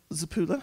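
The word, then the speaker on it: Zappulla: But first, I'm going to hand over to the Thomson Reuters Foundation Chief Executive, Antonio Zappula. He says that that's exactly how to pronounce his name, so that's good, who's going to say a few words of introduction.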